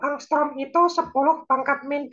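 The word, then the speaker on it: ångström: Jadi inframerah itu sekitar 7.500 angstrom, ini bacanya angstrom, seperti huruf A ada bulatan kecil di atas, itu namanya angstrom.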